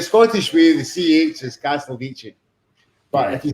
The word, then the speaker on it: Castelvecchi: Is it Castelvecchi? Well, that was my grandparents' name, and the Italian way to pronounce it is Castelvecchi because the C is pronounced that way.